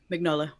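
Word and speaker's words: Mignola: is what Mike maybe were how you better pronounce his last name NOLA vignola yeah that's it I mean I mean the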